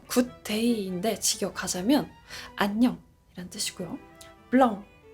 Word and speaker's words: blanc: 블렁 블렁 한국의 수많은 브랜드들이 블랑을 써요. 블랑 뭐뭐 뭐뭐 블랑 뭐뭐 블랑 블랑블랑 발음은 블렁 엉에 더 가까요?